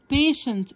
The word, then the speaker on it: patient: بيشنت تي اي اي ان دي بتنطق شا شا.